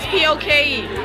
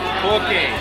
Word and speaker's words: poke: How do you pronounce P-O-K-E? Poke.